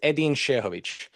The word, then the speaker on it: Edin Sehovic: But my name pronunciation is Edin Sehovic.